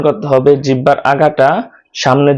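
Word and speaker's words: ثاء: সাটা উচ্চারণ করতে হবে জিহ্বার আগা সামনের উপরে দুই দাঁতের আগার সাথে লাগিয়ে মুখ থেকে বাতাস বের করে তারপরে উচ্চারণ করতে হবে।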